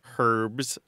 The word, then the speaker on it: herb: or green things or herbs herbs and was barred into old French with the H intact and in French though they don't pronounce the h so the pronunciation was